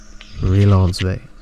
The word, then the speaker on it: Relansové: So I came, and obviously it sounds like fiance. You know, it sounds like this is my fiance or my fiance. You know, some people pronounce it like that. I don't know. But I put relationship, RELA, the first four words of relationship, and fiance, the rhyming of that word together. And I made it sound fancy.